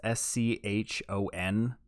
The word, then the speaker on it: Schon: It's Schon. Sean.